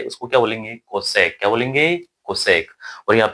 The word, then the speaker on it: cosec: cosec।